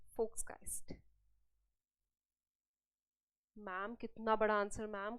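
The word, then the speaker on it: Volksgeist: फोक्सकाइस्ट, इसका प्रोनाउंसिएशन क्या है, फोक्सकाइस्ट। एम I right? Yes, it's called फोक्सकाइस्ट।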